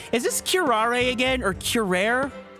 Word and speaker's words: curare: this kirare again or curare how do you pronounce that word again pronunciation yeah Carrara it's kirare even the smallest amount